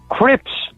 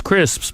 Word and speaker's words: crisps: Crips. Oh. Package of crips. Yeah, package and crisps. Not only are they insulting you by not being able to pronounce crisps, but they can't pronounce the word packet either.